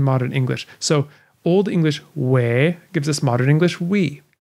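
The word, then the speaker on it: wē: in old english too the sound spelled like e with a line over it is pronounced as a long a sound this often corresponds to an e in modern english so old english way gives us modern english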